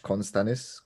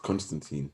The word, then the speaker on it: Constantine: gives me so much Constanus. Am I saying it right? Constanus vibes. Constantine. Yeah, Constantine. Sorry, Constantine.